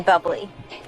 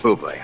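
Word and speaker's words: Bublé: my favorite you mean bubbly no I mean bobl you're Michael bé that's a bubbly she's right Michael bé it's pronounced bé I know thanks dve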